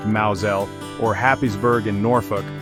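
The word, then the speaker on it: Mousehole: Think of Mouse Hole in Cornwall pronounced Maoelle or Hapiesburg in Norfolk pronounced Hayesborough or Fro in Somerset rhymes with broom.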